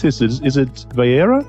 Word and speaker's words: Vayeira: And this week, so now, Nehemiah, how do I pronounce this? Is it Vayeira? Vayeira, right.